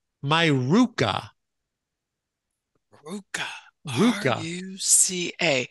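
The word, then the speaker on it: ruca: Here's one, Ruka, R-U-C-A. My Ruka.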